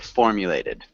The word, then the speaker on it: formulated: difficult words so at formulated formulated formulated yeah formulated so we want to emphasize the first syllable one more time can